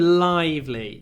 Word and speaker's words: lively: Lively this morning Lively when you say this word Lively try to have a lot of L at the beginning and then a lot of Y before the V Lively live Lively they are the most important sounds in this word Lively Lively students uh